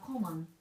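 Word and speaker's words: 小紋: one is called uh common the pronunciation is very similar to the English word common but uh it doesn't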